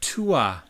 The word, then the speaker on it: Tuath: Tuath, it looks like Tuath, Tuath, but it's pronounced Tuath.